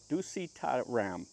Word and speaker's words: Dusittharam: We're going to take a look at what ducy ram I think is how you pronounce it which comes from the Sanskrit word tush.